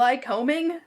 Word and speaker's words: Lycoming: have somebody that was like actually from there tell us how the fuck to pronounce it. And it wasn't what we thought at all. It was No. lycoming, which Yeah, that was still not fucks one of with our me.